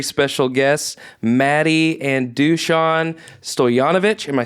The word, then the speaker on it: Stojanovic: You don't have to remember I will how to pronounce it. I got Stojanovic right.